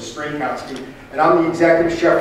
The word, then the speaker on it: Strynkowski: But so my name is Strynkowski. It's pretty simple. It's 3 syllables of Strynkowski, and I'm the executive chef for Cooking Light magazine.